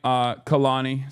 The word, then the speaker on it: Kalani: Anyway, but yeah, shouts out to Kalani, sorry. That's how you say her name. I apologize. I was saying it wrong.